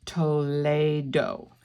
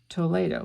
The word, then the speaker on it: Toledo: So Lily told me, and the correct pronunciation is Toledo. Toledo, which is kind of a Espanol, kind of Spanish.